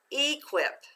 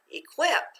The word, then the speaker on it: equip: read it this way first syllable without the accent e second syllable quip okay let's put it together with the accent equip that doesn't sound quite right let's try changing the accent let's read it together again equip that makes more sense good job so